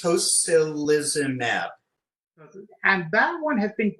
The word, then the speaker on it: tocilizumab: If you could give me the pronunciation of the one I mentioned to you before, again, tocilizumab? Sure, it's tocilizumab.